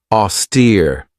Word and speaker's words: austere: Austere. This has two syllables and the stress is on that second syllable with that long e sound.